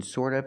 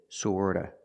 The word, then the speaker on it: sort of: of an sort of remember the T in sort of is pronounced with a fast D sort of sort of sort of don't